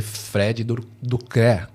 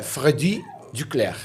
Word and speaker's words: Freddy Duclerc: do francês né o o u em francês tem um som parecido com o i então fica i então